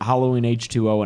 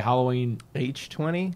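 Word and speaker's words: Halloween H20: so well I've heard Halloween h2o in Halloween 20 so people are just what the H is silent no I'm sorry Halloween age 20 age 20 yeah which doesn't make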